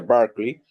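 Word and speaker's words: Barclay: Google colocar William barkley se escribe bar con y al final William bar así se escribe se pronuncia barkley e puede en Google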